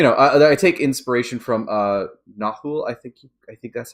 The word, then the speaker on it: Nahual: So that's, you know, I take inspiration from Nahul. I think that's how it's pronounced. There was like a Powered by the Apocalypse game. Nahual. Nahual.